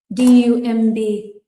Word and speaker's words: dumb: D u m b or unintelligent, you can also say. Dumb. And the b on dumb is not pronounced.